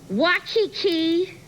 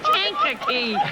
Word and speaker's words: Kankakee: Wachiki. Do I say it right? Wachiki. Illinois? That's Kankakee.